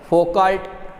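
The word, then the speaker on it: Foucault: और भंवर धारा या कुछ बुक्स में फोकाल्ट धारा ये भी कहा गया, कुछ में फोको धारा कहा गया है, एल का प्रोनाउंस नहीं किया है, ठीक है।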